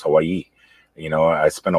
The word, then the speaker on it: Hawaii: all of a sudden you're not pronouncing it hawaii anymore it's hawaii you know i spent